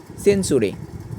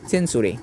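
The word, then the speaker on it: century: কারণে টি এর পরে ইউ হওয়ার কারণে এটির উচ্চারণ চয়েছে যেমন পি ইউ টি ইউ আর ই পি উচ্চার এরপরে আমরা লক্ষ্য করি সেঞ্চুরি সি ই এন টি ইউ আর ওয়াই সেঞ্চুরি এরপরে হচ্ছে এম আই এক্স টি ইউ আর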